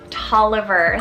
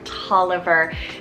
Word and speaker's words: Toliver: awe inspiring then we have the sweet name toliver spelt t-o-l-l-i-v-e-r toliver this one is so fun it's one of